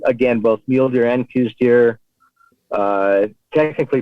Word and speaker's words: Coues: is january um again both mule deer and koostier uh technically pronounced cows here but a lot of the arizona residents